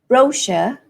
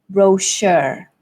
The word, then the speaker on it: brochure: advertise your product so in British English the stress falls on the first syllable brochure brochure and in American English the stress falls on the second syllable brochure brochure and they would say the r clearly as well brochure okay so you